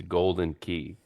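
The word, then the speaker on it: Galdin Quay: It's golden key.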